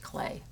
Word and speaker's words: Klee: artist named paul clay his last name was spelled k-l-e-e but pronounced clay and this painting is